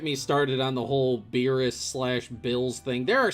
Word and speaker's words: Beerus: you call it the the pun is supposed to be of beers so that's why it's beetus beetus but if you say it with like the japanese pronunciation it can sound like bills abuse beerus i have a